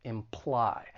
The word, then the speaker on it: imply: to pronouncing this verb it has two syllables the stress is on the second syllable imply now I don't think